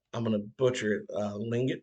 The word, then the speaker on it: Tlingit: Lingit tribe. It's spelled Tlingit.